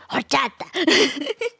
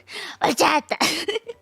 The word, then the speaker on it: horchata: As long as you don't say it like that, then everyone's gonna think it's cute. He says you have to say the ending right. It was the ending that's the important part.